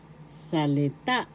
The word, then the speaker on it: salita: singular plural sa sa salita salita word in English first syllable sa second syllable third syllable ta the accent is in the third syllable in english the nextig